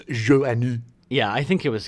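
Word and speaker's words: Joanou: And a lot of you probably have been pronouncing it Phil Joannou, as I have been for the last 40 years. Yeah. Not knowing that it was Joannou.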